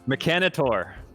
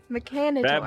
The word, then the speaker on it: Mechanitor: How do you pronounce Mechanator? Mechanitor. Okay. Mechanitor.